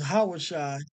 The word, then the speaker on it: Yahawashi: so going back to the correct pronunciation or the correct uh the correct name right where it took you to yahawah Shai is not yahawah Shai because that's not Joshua's name his original name was yahawashi and then Moses put